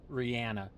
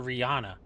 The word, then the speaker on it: Rihanna: Listen, I can't even say Rihanna because that's the way she pronounces it. And I just learned that like 2 weeks ago. I've always called her Rihanna for the beginning of time. And nobody corrected me because I think everybody else also thinks that's how you pronounce it. What you want from me? But she pronounces it Rihanna. So I have to respect it.